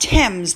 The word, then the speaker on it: Thames: also told me that the river is pronounced thames the river thames like i've got gloucester